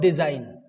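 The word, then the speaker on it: design: first word is व्ट डिजाइन okay D ई एस आई जी एन तो यहां पर हमने जी का प्रोनंसिएशन नहीं किया तो क्या बन गया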